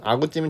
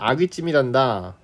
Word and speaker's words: 아귀찜: 자, 그래서 저는 저번에 먹은 아구찜이 참 맛있었어요. 이래. 자, 그랬더니 엄마가 올바른 발음은 아구찜이 아니라 아귀찜이란다. 그래. 발음도 그렇고 표기도 그렇고 틀렸죠.